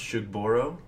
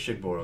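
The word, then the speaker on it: Shugborough: I believe this word is pronounced Shugboro. It's pronounced Shenangler. The Shigboro inscription. I think it's Shigboro because I've heard him talk about it.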